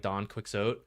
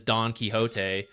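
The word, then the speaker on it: Don Quixote: key it's Ricky time are Americans pronouncing Don kote like Don quiot uh they shouldn't that one's a literary title so that one is Don kote and anyone who knows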